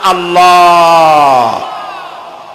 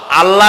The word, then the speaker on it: আল্লাহ: জমিনের দিকে আল্লাহর নাম আল্লাহ বলেন তো আল্লাহ নয় কিন্তু আল্লাহ হচ্ছে অশুদ্ধ শুদ্ধ হচ্ছে আল্লাহ বলার সময় মুখটা গোল হয়ে যাবে বলেন তো সবাই উচ্চারণ